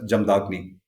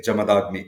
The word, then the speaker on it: Jamadagni: Kerala you know so that a is pronounced down south so North Indians May pronounce it as jamdagni we will say jamadagni it refers to the